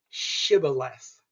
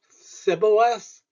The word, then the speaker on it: Shibboleth: If he answered no, they said, "Then say Shibboleth." He would say Sibboleth, since he could not pronounce the word correctly.